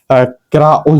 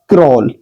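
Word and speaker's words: crawl: अब हम इसको क्र ऑल तो पढ़ नहीं सकते। ठीक है? इसको पढ़ा जाएगा क्रोल।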